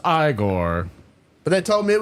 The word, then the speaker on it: Igor: Frederick Frankenstein I see H you must be eigor no it's pronounced igore but they told me it was eigor well they were wrong then weren't they h